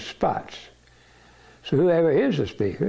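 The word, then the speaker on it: Spaatz: She didn't want to pronounce it Spats, so she called it Spots.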